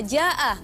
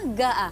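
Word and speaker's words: جاء: bahasa Arab Ada kata Jaa artinya datang tapi orang Mir itu enggak bisa atau lidahnya berat mengucap Jaa Oh gitu Jadi huruf Jim itu dibacanya G Jaa gaa Oh gitu Jaa gaa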